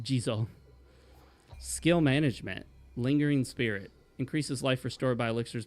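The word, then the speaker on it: Jizō: The Gizo blessing, which I know it's pronounced Jizo.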